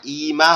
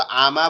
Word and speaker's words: ইমা: আপনি বলতেছেন হামজা ইয়াজের ই, তারপরে মিম জবর মা, ইমা হবে। আপনি তো আমা বলতেছেন কেন?